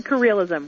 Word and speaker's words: careerism: know what it is we take the extra syllable out we just say careerism we say it really fast career ISM okay you got it and